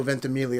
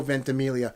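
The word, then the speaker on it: Ventimiglia: and I said it right it is Milo venelia it's not Milo it's Milo vent Amelia I've seen him do enough interviews and I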